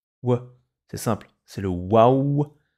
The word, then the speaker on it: و: C'est le waouh. Il fait le son ouah. Et il fait aussi ouh.